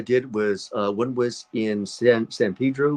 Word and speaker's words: San Pedro: Um, Last couple of films I did was one was in San Pedro, where they say San Pedro in my the way I would pronounce it, San Pedro.